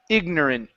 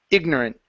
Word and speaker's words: ignorant: this word here is ignorant okay so do a stop T why because we have a comma right here we don't have to pronounce the T ignorant ignorant good okay um